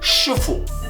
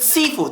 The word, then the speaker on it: Sifu: speak crystal clear mandarin it is called shufu hear that not cantonese reason two in the game itself they say certain words like they pronounce it tong hua reason 3 the martial art in this game is called the pokemon nuts this is a southern style where people speak cantonese not mandarin and therefore pronounce it seafood that ruins [ __